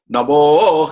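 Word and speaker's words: नमो: Now here Namo is extended. So when you pronounce it, you say Namo Hrasvaya Cha Vamanaya Cha.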